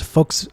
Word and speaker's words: Volk: boaters the beautiful boaters V in front of a vowel in German is pronounced like an F so it's folks Volkswagen and folk okay I see the